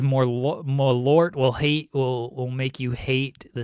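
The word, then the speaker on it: Malört: Malort? Malort. Is that how it's said? Yeah. Yeah. Malort. Malort. There's like an accent over the O. Are you sure it's not more lort?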